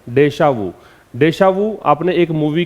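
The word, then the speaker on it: déjà vu: क्या प्रोनाउंसिएशन है? डेशावू।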